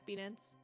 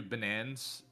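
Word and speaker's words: BNans: So is it pronounced B-Nans? Yeah, B-Nans. Okay. I called you Banans, and then I called you Banana, and chat was very mad at me.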